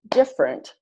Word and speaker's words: different: with only two syllables so all of these words are pronounced aspirin average Barbara business camera different evening every family favorite federal general dressed